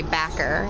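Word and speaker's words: Bowker: here it's called bocker it's like b-o-w-k-e-r like that's how they spell it but they every time you turn on it they say backer they're like turn on to backer street oh my goodness is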